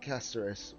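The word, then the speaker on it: Castorice: I know obviously they pronounce it Casteris, but technically it's the same spelling as Caster, so doesn't really matter, does it?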